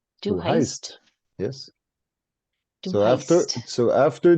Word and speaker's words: heißt: Heist? Du heißt? Yes. Du So heißt. after the S, we remove the S that would be there if it's a du. So du heißt. Du heißt.